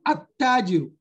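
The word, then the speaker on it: التاجر: When they are tied to alif al-lam, they are pronounced with a shadda. And when pronounced with a shadda, the lam vanishes. So from the a, we jump to the letter.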